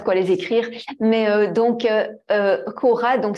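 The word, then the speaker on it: ὥρα: les écrire mais donc Cora donc ça s'écrit c'est h o R a c'est un qui pour ça qu'il se prononce aspiré et on va retrouver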